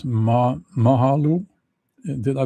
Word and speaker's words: Mahalo: That Um Mike says Ma Mahalo. Did I pronounce that correctly?